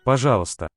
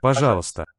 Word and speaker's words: пожалуйста: It's written with an O, and if that's in the tonic syllable, which means if it has the accent, it's going to sound as an O. Otherwise, it's going to merge with the A. It sounds like a ba here.